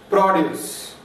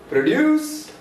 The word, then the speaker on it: produce: Produce. The stress is on first syllable when it is used as noun. Produce.